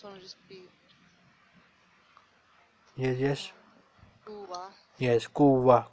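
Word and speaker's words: قوة: Okay, so We write it like kuwatan, but we pronounce it like kuwa. Okay? So remember, when this round ta is at the end, we pronounce it like ha. So kuwatan is written but pronounced kuwa.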